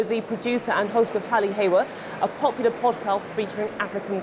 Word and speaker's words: Hali Hewa: Now, Hali Hewa, that's my first piece of Swahili. Did I pronounce it correctly? Yes, you did.